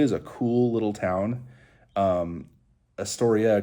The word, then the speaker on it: Astoria: Astoria kind of rhymes with history, anyway, and that's makes me think of that because of Lewis and Clark.